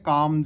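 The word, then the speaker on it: calm: काम जैसे हो गया काम word. C ए एल M spelling होती है इंग्लिश में। इंग्लिश में हम लिखेंगे तो एल मिस कर देंगे क्योंकि एल की साउंड उसमें आ ही नहीं रही है बोलने में तो इसलिए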